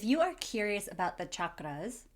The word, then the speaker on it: chakra: If you are curious about the chakras, especially why I'm saying chakra, not chakra, keep watching because we are going to learn why I pronounce it as chakra.